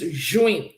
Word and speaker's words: juin: June is juin. Can we say that? Juin.